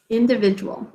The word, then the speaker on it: individual: The j sound, strangely enough, comes from a d in this word, which sometimes happens when it's followed by a u. So we think to spell this as individual. And that ul ending should make you think al, individual.